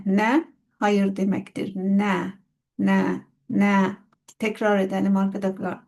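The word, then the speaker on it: نه: Ne? Tekrar edelim arkada. Arkadaşlar na değil ne?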